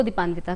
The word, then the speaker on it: दीपान्विता: वो दिवाली पे जो हम जोत जलाते हैं उसकी जोत को दीपान्विता कहा जाता है। दीपान्विता इन Bengali pronunciation, you utter it like दीपान्विता in Bengali and it means दिए की जोत।